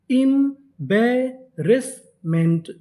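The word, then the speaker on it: embarrassment: तो मीनिंग क्या बनी, EM इम, BA बे, इम बे, डबल आर ए रे, ऐसे हमारा 2 बार, कितनी बार पढ़ेंगे, 1 बार। इम्बेरेस, MENT इसे क्या पढ़ेंगे, मेंट। तो पूरी मीनिंग इम्बेरेसमेंट, इम्बेरसमेंट, इम्बेरसमेंट।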